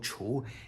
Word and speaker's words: 橱: If we add the wood radical in front of all that, it's still second tone chou and means cabinets or cabinetry.